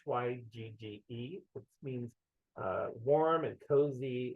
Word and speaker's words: hygge: I always pronounce it incorrectly, but it's Hyggge, which means warm and cozy, inviting and safe.